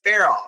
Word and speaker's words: Farel: And I totally said your name wrong. It's Farel.